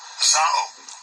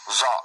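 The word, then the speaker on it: ζάω: Maybe I should have it pronounced it. Let me get to it. This word. Strong's G 2198. Zao. Zao.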